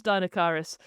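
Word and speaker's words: Deinocheirus: pronounce it. Yes, it is Dinocyrus.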